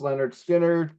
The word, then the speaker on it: Lynyrd Skynyrd: be amongst them this is from their debut pronounced Leonard skinnard and it's Tuesday's Gone which they still play